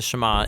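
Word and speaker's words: שמע: first word of the shama is hear or listen which in Hebrew is pronounced shama that's where the prayer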